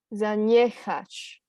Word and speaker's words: zaniechać: Yep. Zaniechać. So it's like a sh sound.